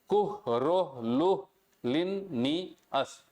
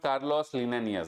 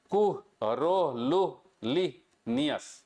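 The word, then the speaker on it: Carolus Linnaeus: अच्छा, इसका प्रोनाउंसिएशन कैसे करेंगे, कुल कुह रो लू लिन नी अस। ठीक है, तो ये हो गया इसका प्रोनाउंसिएशन। अब देखो यार, अंग्रेजी थोड़ी ना पढ़ाना है कि प्रोनाउंसिएशन में इतना डीप में जाएंगे, but this is नॉट कार्लोस लिनेनियस, this is कुह रो लू ली नियस।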